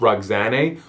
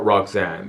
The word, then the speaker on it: Roxane: Her name is either pronounced Roxane or Roxanne. Yeah, either or is acceptable. But she was Afghan, and he conquered that region during his military career.